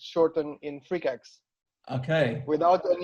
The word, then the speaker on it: Freqax: it as Facebook debates before, is how to pronounce your artist name. It's Freqax.